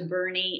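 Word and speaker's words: Boerne: little bit of texas head on up to bernie it looks like it's spelled b-o-u-r-n-e and like born texas but it's pronounced birdie and it's quaint and fabulous food and restaurants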